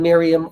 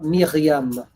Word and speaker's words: Miriam: all of you again I am Miriam of Miram of if you want to say it correctly but Miriam is good is good can I move around